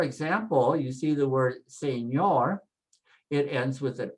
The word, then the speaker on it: señor: So for example, you see the word señor, it ends with an R, a consonant. So we say señor and do that NY sound, ñor, say señor, señor.